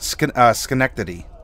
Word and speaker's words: Schenectady: Which, by the way, Bubonic, I pronounced Schenectady.